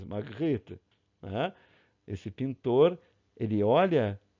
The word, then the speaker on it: Magritte: A pronúncia do francês, Magritte.